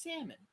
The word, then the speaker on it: salmon: monkey does it - it's not sounded it's salmon the L is silent I like it's a